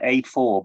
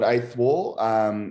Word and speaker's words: 8th Wall: It sounded like 8-4, but I didn't quite catch it. Yeah. So it's called 8th Wall. They were could you spell it? Yeah. So it's 8th. So like an 8th. Okay. Yeah. And then wall. WALL. Yeah, they're amazing.